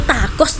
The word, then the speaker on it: tacos: Tapi kayaknya tuh hantu takos deh, Guys. Takos ya? Tacos maksudnya bacanya t a c.